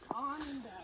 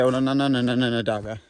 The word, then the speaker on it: Onondaga: Onondaga. Why would you pronounce it that way? That's how it's spelled. Why wouldn't you pronounce it the actual way, Onondaga?